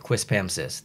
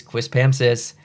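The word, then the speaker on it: Quispamsis: don't know what it is and it said quis pamis that's how you pronounce it um again not weird for me at all it's a very very normal place quis pamis but I can understand how that is a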